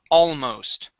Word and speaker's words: almost: the word almost and I want to make sure we pronounce that L okay all almost okay almost yep just like that